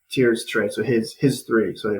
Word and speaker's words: Tyr: I always have problems how to pronounce it. yep, Tyr, Tyr, Tyr Stray.